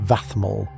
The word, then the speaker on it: vadmal: Central to their saratoral strategy was a remarkable textile known as vadmal, pronounced vaol.